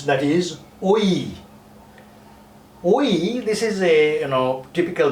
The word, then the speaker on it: ঐ: Oink means it's a sound again, and it is produced by pigs. So here we have something about Oi sound, but you have to pronounce it very strongly.